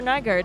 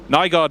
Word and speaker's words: Nygaard: GTE AM champion, Christopher Nygaard, and Bruce is with him. Nygaard, no more, it's Nygaard. I've just been checking on the pronunciation.